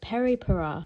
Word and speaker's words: Peripera: me jumping in again this one is pronounced peripura it's their long curling